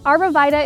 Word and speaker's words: arborvitae: So I'm planting North Pole arborvitaes. Arborvitae is the way we pronounce the name in my area. Arborvitae is another way I've heard it, which is probably proper, but I'm going with what I know here.